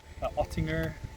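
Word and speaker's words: Oettinger: We're also getting a Ottinger, that's how you pronounce it, spoiler, and then some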